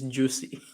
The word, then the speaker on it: Jussie: could pronounce that name Chappelle said it's juicy oh yeah you know